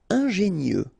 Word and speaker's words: ingénieux: Ingénieux. Final X not pronounced, so I-E-U, ieux, nieux, ingénieux.